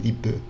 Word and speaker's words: liebe: Ele pronuncia dessa forma, liebe, né, com o E mesmo.